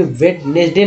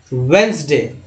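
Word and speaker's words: Wednesday: आप यह आंसुओं के वेडनेसडे नहीं बोलते हैं वेनसडे डीजे है साइलेंट है जहां आप देख रहे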